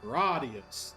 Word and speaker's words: Gradius: The opening menu for pronounces it for four pronounces it gradius.